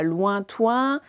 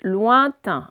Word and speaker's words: lointain: C'est pas lointain, c'est pas lointoin, c'est lointain, un de chaque.